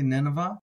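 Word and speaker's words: נינוה: Nineveh, Nineveh, and that vowel there, vav, as some people call it, I say vowel, not vowel, but vowel, is pronounced like a V here, so we get a V.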